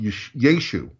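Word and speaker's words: ישוע: on the end, but the ayin on the end wouldn't have been pronounced. Okay. It would have still would have been yud, shin, vav, ayin, but it would have been pronounced yeshu.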